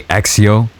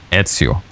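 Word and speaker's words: Ezio: "Oh, it Etsio's name supposed to be like pronouncing it wrong. They either say exio or like exio with a x and a z. But no, it's pronounced etsu.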